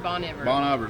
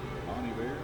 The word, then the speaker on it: Bon Iver: or maybe i'm not bon iver bonneville is what i said forever and i heard it on like a some kind of publication and i was like oh donna bonnie bear is that what bonnie bear in spanish i hope somebody can prove me wrong but anyway however you